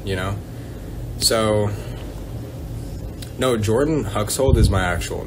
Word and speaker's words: Huxhold: an interesting last name everyone always thinks it's hux old and i'm like no dude it's like hux like hux and then like you're holding something so hux hold that's how it's like pronounced my name is